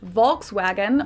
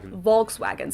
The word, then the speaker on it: Volkswagen: be pronounced Volkswagen and Volkswagen so just imagine that it was spell with yeah so the E the V basically you pronounce as a f and the W is a v Volkswagen I'm going to